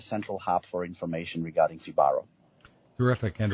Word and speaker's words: Fibaro: a like a central hub for information regarding fibaro terrific and it's spelled f i b a r o Dominic